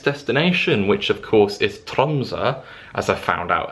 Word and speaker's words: Tromsø: to my next destination which of course is tronsa as i found out how it's pronounced because all this time i've been saying like tromso or tromso it's tromsa so if anyone is coming to norway you